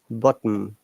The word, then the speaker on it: bottom: and in which perspective so this word always stress on here as you can see is bottom bottom okay remember the double